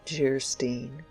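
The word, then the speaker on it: Geierstein: offering it for sale anne of geistein pronounced gerstein or the maiden of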